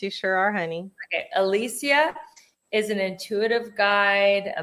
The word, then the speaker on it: Elysia: Alisia is an intuitive guide, a motivational speaker, and